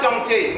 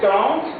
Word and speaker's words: tantes: La prononciation Z. Il y a ses oncles, ses tantes, pas tantées, non, ses tantes, ses cousins et ses cousines.